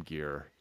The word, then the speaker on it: Geir: And again, forgive me on the pronunciation, but it's Geir. Yeah, Geir, yeah.